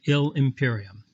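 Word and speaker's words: illi imperium: starts with i so let's just cross out the i in illy put a little loopy thing to show that ill and imperium are going to be joined to make sound like one word we're going to pronounce that ill imperium it doesn't even matter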